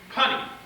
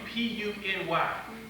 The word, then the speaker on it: puny: There was a word, in fact, I kept pronouncing it for years, punny. And then all of a sudden, it dawned on me, P-U-N-Y, puny. For years I read it wrong, punny.